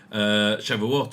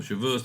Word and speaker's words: Shavuot: It goes from Passover to the Jewish holiday of Shavuot or Shavuos, depending on how you say it.